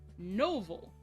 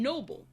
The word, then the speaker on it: Noble: The sugar fairy Noval I mean, Noble. The name of the character is Noble, but the problem is in the dub because the actress can't really say it properly, she keeps sounding like she says Noval.